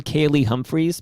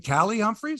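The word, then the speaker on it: Kaillie Humphries: you your thoughts on kaylee humphries because kaylee humphries is ali you mean callie humphreys is that how you say it callie okay callie humphreys as you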